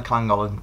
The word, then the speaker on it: Llangollen: We realised that if we got on the Llangollen Canal, or the Golly Canal.